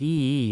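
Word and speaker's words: 夷: contemptuous term for barbarian, a character pronounced e in the official Mandarin dialect.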